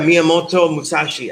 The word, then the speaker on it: Miyamoto Musashi: I think it's Miyamoto Musashi, something like that. I butchered that, so now I have to look it up. Yeah, Miyamoto Musashi. I was close. Miyamoto Musashi.